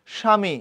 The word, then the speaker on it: স্বামী: স্বামী বফলার উচ্চারণ নাই।